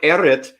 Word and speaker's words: Errit: So everyone, Eritt is.